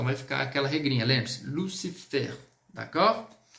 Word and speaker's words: Lucifer: E a própria palavrinha que nós colocamos, Lucifer, onde, exceto o L, o C e o FR, nós vamos pronunciar. Então vai ficar aquela regrinha, lembre-se, Lucifer, d'accord?